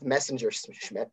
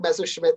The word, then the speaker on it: Messerschmidt: I remember cinematography because she pronounced Eric Messerschmitt's name about 2 or 3 different ways, starting with Messenger Schmidt. So congratulations to Eric Messenger Schmidt. So that happened. Eric Messerschmidt, cinematographer on Mindhunter.